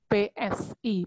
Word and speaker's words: psi: Lambangnya seperti ini, bacanya psi, PSI, psi.